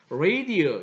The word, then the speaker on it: radio: 예를 들면 이제 우리가 방송 들을 때 라디오란 말이 있는데 라디오라고 우리 이제 영어권에 가서 얘기하면 사람들이 잘 못 알아듣죠. 왜냐하면은 그들은 그렇게 발음을 하지 않기 때문에 radio 이렇게 발음을 한단 말입니다.